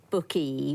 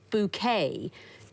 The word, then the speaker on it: bouquet: You're so close, Godyn family, but you don't say bouquet for a bunch of flowers, it's bouquet.